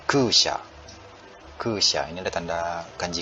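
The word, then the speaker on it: 空車: Itu bacanya kusha.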